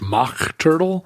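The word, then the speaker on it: Mach Turtle: She was in a band called Mock Turtle, except it wasn't spelled like the Mock Turtle net shirt. It was M-A-C-H, Mock Turtle.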